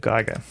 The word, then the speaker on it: Giger: Let me let me show you uh let me show you the land of Geiger or as some people like to say Giger.